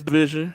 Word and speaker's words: DVSN: Yeah, it's division.